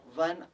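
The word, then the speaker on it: one: अ लगाएंगे क्योंकि स्पेलिंग ज़रूर ओ से स्टार्ट हो रही है, लेकिन वो जो है वॉल साउंड नहीं है, हमारा साउंड जो है वो व से स्टार्ट हो रहा है, इसलिए अ लगेगा यहाँ पर।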